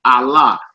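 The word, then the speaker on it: עלה: It means to go up or ascend, and it's Allah. Allah. Not like the God that the Arabs are worshiping. Not Allah, the moon god. It's a verb in Hebrew, Allah.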